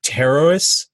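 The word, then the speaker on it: Pterois: sorry yeah it's called terrorists is actually the name of it I had to look up the pronunciation because it's spelled Pte Roo is mm-hmm which looks like pert wall that's Frankish it's also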